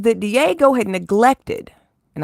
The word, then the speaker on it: Diageo: Diddy, being the liar and scumbag that he undoubtedly is, says that Diego had neglected, and I think I'm saying it right, Diageo or Diego, it's spelled Diageo. Um, we'll say Diageo.